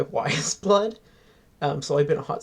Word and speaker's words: Weyes Blood: to say it Matthew how do you say it again why is blood thank thank you it's Titanic wising by why is blood um so I've been